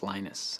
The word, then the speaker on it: Linus: came along Minister Linus what exactly your preferred pronunciation when I speak Swedish it's heinous when I speak Finnish it's Lino's when I speak English its Linus and I really don't care how people browse my name but Linux is always